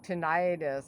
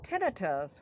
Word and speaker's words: tinnitus: want to be um i used to say tinnitus i used to pronounce it the wrong way because i'm deaf um so everybody's telling me it's tinnitus which makes more sense it's like i don't